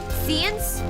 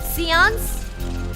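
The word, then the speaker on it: séance: How do you pronounce this? Give me a moment. Seance. Seance. All right. Seance. Sorry, I had to had to search.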